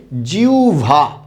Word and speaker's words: জিহ্বা: না উচ্চারণটা কি হবে জিউভা উচ্চারণটা কি হবে জিউভা আমি আরেকটা শব্দের উচ্চারণ